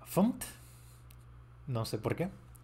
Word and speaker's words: fmt: Lo he estado pronunciando mal, por cierto, se pronuncia FUMT.